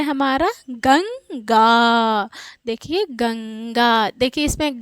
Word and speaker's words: गंगा: तो ये क्या उच्चारित होगा, गंगा। देखिए गंग अंग निकल रहा है ना, तो इसके उच्चारण में नाक पे बल जा रहा है यहाँ पे ना, तो ये क्या है, अनुस्वार है।